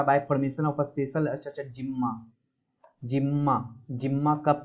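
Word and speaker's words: Gemma: और दूसरा bye formation of special structure जिम्मा। जिम्मा जिम्मा कप याद रख लेना कि जिम्मा कप जो होता है, या गिम्मा भी बोलते हैं, जिम्मा ही होता है इसका प्रोनाउंसिएशन।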